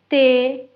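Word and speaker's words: les: இப்ப உதாரணத்துக்கு பாருங்க தே என்று சொன்னா உங்களுக்கு தெரியும் இத நாங்க ப்ளூகியலுக்கு பாவிக்கிற நாங்க இதுல வந்து பின்னுக்கு இருக்கிற எஸ் வந்து நாங்க உச்சரிக்க மாட்டோம் தேஸ் என்று சொல்ல மாட்டோம். தே என்று மட்டும்தான் சொல்லுவோம்.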